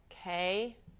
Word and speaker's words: 考: and 考, 考, 考, K-A-O, third tone. Now, Kao is the ow in kao is quite similar to the ow sound in English. It's just a slightly softer pronunciation.